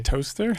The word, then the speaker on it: Towcester: Toaster? Yeah. Well done. Sorry. Just like Leicester isn't Leicester. Yeah. I kind of gave That's not Towcester, it's Toaster.